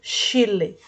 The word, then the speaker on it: Schiele: Se escreve Schiele, mas se lê Chile.